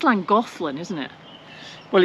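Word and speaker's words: Llangollen: it I think it's Lang golin isn't it well it's Welsh so you say it as if you got cold and the Ponto silic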